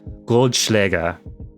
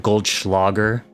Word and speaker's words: Goldschläger: Goldschläger, not Goldschlager, right? For anybody who drinks Goldschlager, as I think most Americans say it. I know I was watching a bartending tutorial thing on YouTube, and the German gal who was guest hosting on that was saying it's Goldschläger, right? Not Goldschlager. So there you go. There's your German pronunciation for the day.